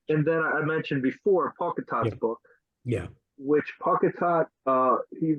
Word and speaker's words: Pauketat: I've heard people correct me and say Pocketal, but I've heard him call himself Pocketat, so I'm going to go with what he calls himself.